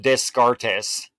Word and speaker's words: Descartes: but he's the Eternal was it discar no no no it's uh you did not pronounced that Descartes you did not I know you didn't I'm from the south I've only ever seen Des gardes that that Socrates yep